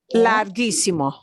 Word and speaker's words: larguísimo: A G, similarly, to not put it into the ch sound of a G, it might change its spelling, but it's still going to have the g sound because of that spelling.